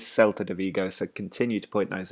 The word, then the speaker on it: Celta de Vigo: Somebody pointed out that I said Celta de Vigo last time. It is Celta de Vigo, so continue to point those out.